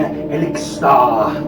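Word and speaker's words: Ixilthar: I am Elixir, the Unblinking. How'd you spell that?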